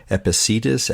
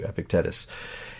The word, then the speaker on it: Epictetus: be free from I don't know how to pronounce his name. You probably know it. EP Epicetus. Epictets. Epicus. That's we go. Thank you. Epictetus.